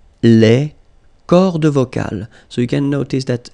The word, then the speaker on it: les cordes vocales: at the end, S, and then S here as well, but you don't pronounce them, okay?